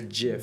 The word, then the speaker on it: GIF: It's a gif. GIF. Okay. Yes. It's a soft G.